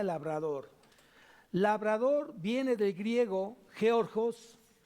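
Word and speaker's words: γεωργός: Labrador viene del griego georgos con G al último también y acento en la O, georgos, en la segunda O lleva acento, y significa obrero.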